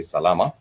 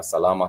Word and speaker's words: salama: We figured it's very very easy to remember has three syllables. Sal which means well. So if someone is asked how are you doing you can respond and simply just say salama.